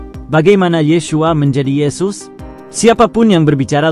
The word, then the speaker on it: Yeshua: Pada abad pertama, Judea dan Galilea, nama Yeshua diucapkan dengan ucapan Yeshua, sangat umum, dan berbagi tempat kelima dengan El-Azar atau Lazarus dalam popularitas sebagai nama untuk pria Yahudi.